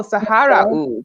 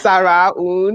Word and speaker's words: Sahara Oud: Which that name actually confused me because every single time I saw like that, I was like, oh, Sahara Oud. But it's Sarah Oud.